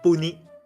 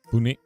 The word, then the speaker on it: Puni: Oh, by the way, how we say her name in Thai is named Puni. Puni, like that.